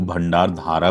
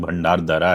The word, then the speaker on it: भंडारदरा: मैं पहले भंडार दरा को भंडार धारा प्रोनाउंस करता था। मैंने एक शॉर्ट्स पोस्ट किया है जिसपे किसी ने मुझे करेक्ट किया कि एक्चुअल प्रोनाउंसिएशन जो है वो भंडार धारा नहीं भंडार दरा है।